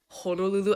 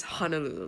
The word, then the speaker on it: Honolulu: hard to say but why do people say Honolulu as Honolulu like there's O's in the word right there red flag number